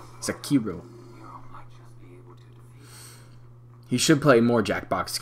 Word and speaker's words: Sekiro: Like somebody's breaking it down phonetically. Sekiro. That's how you pronounce it. Not Sekiro. Sekiro.